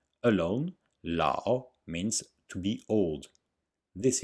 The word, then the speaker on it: lǎo: is very short and some people only hear the ah la but there is a difference between la and la not that the a is the long or strong vowel and the tone mark is always on the strong vowel alone la means to